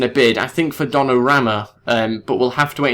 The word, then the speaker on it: Donnarumma: Okay, so I wasn't too far off with the pronunciation. It's actually Donnarumma. I didn't have the name written down or anything like that, but it is Donnarumma.